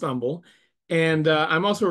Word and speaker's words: Humble: in Umble Texas uh it is Umble because there is nothing humble in Texas um so it is pronounced Umble and uh I'm also